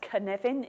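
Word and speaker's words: Cynefin: Okay, the most difficult thing about Knevin is how to pronounce it. It's pronounced Knevin. It's spelt Sinophin. It's a Welsh word.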